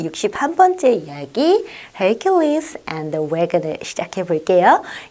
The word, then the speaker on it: Hercules: 그때 The Statue of Hercules로 해서 그때 나왔었어요. 힘의 신, 제우스의 아들이면서 힘의 신으로 우리가 우리나라 말로는 헤라클레스라고 하는데 근데 어떻게 그렇게 좀 영어식 발음 진짜 발음은 헤라클레스가 아니라 Hercules로 합니다.